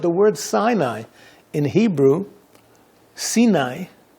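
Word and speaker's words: סיני: you know that the word Sinai in Hebrew sini it's pronounced is related according to the talud to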